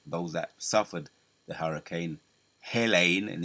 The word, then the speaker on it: Helene: They got the Hurricane Helene. That's how you pronounce it.